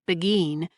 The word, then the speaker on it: Burgoyne: Nutting had a famous foxhound named Burgoyne. He pronounced it as Begin, which my informant used to borrow.